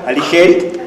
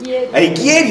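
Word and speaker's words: Alighieri: La Divina Comedia buo mi mujer diría que lo pronuncié mal su padre italiano aligeri alieri alieri alieri alieri con La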